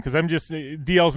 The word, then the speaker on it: Dalziel: me in the girl didn't know how to pronounce my name so she how do you press your name I said it's just DL is she gone it's no dolls Beyonce no